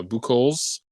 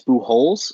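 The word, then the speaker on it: Bu-Holz: butcher that and then I I think it's blue holes uh he spelled it out uh his pronunciation b-u-hyphen h-o-l-z um I was hoping that you would uh pick up on that so uh I don't know if it's like Albert Pujols but it's like blue hauls um yeah that could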